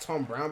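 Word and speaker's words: Thom Browne: disruptive collaboration Tom Brown wait so it's actually pronounced Tom Brown but it's got my back I want to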